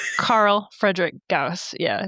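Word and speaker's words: Gauss: I don't know if I'm saying it correctly, but it is G- A SS. Gaus Rifle. You are. Yeah, that's that was also in Halo, so you're saying it right.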